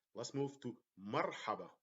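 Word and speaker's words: مرحبا: syllables let's move to Marhaba Marhaba is welcome so we separate the two syllables by Mar the first one we put the sukoon on the letter R and then let's move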